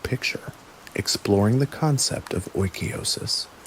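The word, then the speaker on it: oikeiosis: The final section synthesizes these practices into a complete picture exploring the concept of oosis pronounced oiois, the process of appropriation and the practical conclusion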